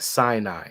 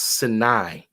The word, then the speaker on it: Sinai: Why was the desert called the Sinai Desert, not Sinai? It's pronounced Sinai.